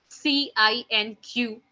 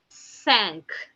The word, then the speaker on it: cinq: 5 in French is being written down as CINQ, which is being pronounced as cinq, cinq. Okay.